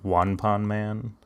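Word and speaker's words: ワンパンマン: this series, but like, did you know that One Punch Man in Japan is called One Pon Man? Like, that's how they pronounce it, because like they don't the cha?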